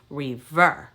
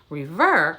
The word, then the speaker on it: rêveur: to talk about is rêveur reverb only has two syllables re ver all right you try